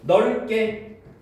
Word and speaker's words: 넓게: 자, 어감 받침 리을 비읍과 리을 티읕 뒤에 첫 소리가 그드스즈인 어미가 결합하는 경우에도 이를 된소리로 발음한대.